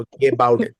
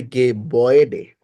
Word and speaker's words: Gebäude: আচ্ছা, আমি বলি, কোনো umlaut আয়ের পরে যদি উ আসে, তো এটা হয়ে যাবে ওয়ে। যেমন ওয়ে আমরা নর্মালি যদি উচ্চারণ করতাম, umlaut না থাকতো, তাহলে হয়তো গে বাউডে সে ধরেন। বাট এখন হয়ে যাবে গে বয়েডে।